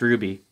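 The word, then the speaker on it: RWBY: red white black yeah it's art are wyb oh and pronounced ruby that's roosterteeth yeah yeah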